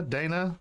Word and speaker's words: Deanna: Is it Dina? Dana? It is. Yeah. Okay. It's spelled Deanna, but my family has always called me Dina for years.